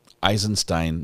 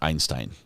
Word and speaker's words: Eisenstein: as you know eisenstein there's an n in it eisenstein not Einstein I don't know I